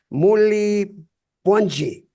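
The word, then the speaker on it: Muli bwanji: Muli Pwanji.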